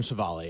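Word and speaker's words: Civale: Is that how you say it, Savale? Aaron Savale, yeah.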